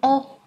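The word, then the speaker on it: を: ô và động từ từ ô này như các bạn đã học xuất hiện ở trong bảng chữ cái nó cũng đọc là ô giống chữ ai người ô đúng không Tuy nhiên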